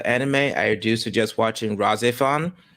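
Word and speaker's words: RahXephon: I do suggest watching razifon it's spelled r r a h x e p h o n yeah it's actually really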